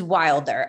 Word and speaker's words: Wilder: yeah um and i want to make sure i am pronouncing your last name probably it's wilder it is wilder okay thank you um